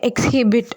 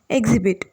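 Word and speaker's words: exhibit: அர்த்தம் next word எக்ஸிபிட் இதை வந்து எக்ஸஹிபிட் அப்படிலாம் நம்ம சொல்லக்கூடாது எக்ஸிபிட் எக்ஸிபிட் அப்படின்னா காட்டுறது எல்லாருக்கும் ஷோ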